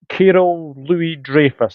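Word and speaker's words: Kyril Louis-Dreyfus: Now, your chairman owner, Carol Louis Dreyfus, have I pronounced that right, Yes, or you have have.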